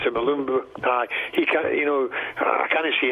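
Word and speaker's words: Mulumbu: They've got the guy from Kilmarnock, and obviously I can't pronounce his name. Malumbu. It's Malumbu.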